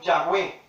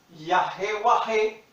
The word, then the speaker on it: Yahweh: En castellano son YHWH. Yo lo leo Yahweh. En inglés se pronuncia Jehová. Algunas traducciones latinizadas lo presentan como Yahvé. Los judíos siguen pronunciándolo como Yahweh, ¿sí?